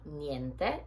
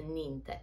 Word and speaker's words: niente: a problem for me miente has the same sound that we have in grazia so you have to say niente and not for example a ninte so you have to pronounce both the letters to say sorry we